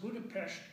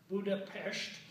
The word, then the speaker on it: Budapest: the radio of course he always pronounced buda-pesht correctly as buda-pesht because buna and pastor actually two cities / the beautiful blue